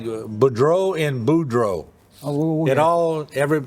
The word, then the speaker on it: Boudreaux: It always just like Boudreaux and Boudreaux. Oh, We put the emphasis on the first part, and in other parts of the country, they put the emphasis on the last part of the name.